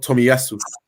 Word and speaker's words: Tomiyasu: Takehiro Tomiyasu.